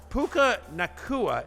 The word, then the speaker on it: Puka Nacua: Puka Nacua, is that how I say his name, Connor?